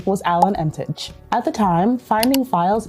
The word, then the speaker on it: Emtage: In Canada, yes, because of the French. That's how it typically is pronounced. But in Barbados, Emtage. Emtage.